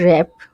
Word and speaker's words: wrap: র্যাপ এটার উচ্চারণ হচ্ছে রেপ ডব্লিউ এর উচ্চারণ হয় না অনেকে উচ্চারণ করে টেক্সট